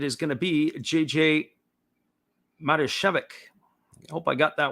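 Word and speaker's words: Matijevic: going to be jj marishevik i hope i got that one right this time mata shevik is the phonetic pronunciation and we've been struggling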